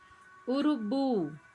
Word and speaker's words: urubu: Urubu. Bu é a sílaba tônica.